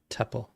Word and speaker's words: tuple: an array or a tuple Tuple somebody on the internet corrected me so now I say it right Tuple how much vram was